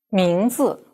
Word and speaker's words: 名字: 名字, zi is 4th tone too, etc.